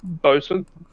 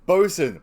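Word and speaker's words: boatswain: hates saying things properly it's spelt boat swain but pronounced bosun right no like reading it it's like bosun brackets both swan and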